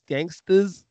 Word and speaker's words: Gangstas: Gangstas.